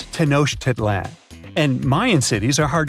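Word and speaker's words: Tenochtitlan: It's tanoshedlan. And Mayan cities are hard to pronounce, too.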